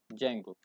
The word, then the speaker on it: Django: ट इ पिप इंस्टॉल जंगो इसमें जो डी है वो साइलेंट है इट इ जंगो और जो हम डबल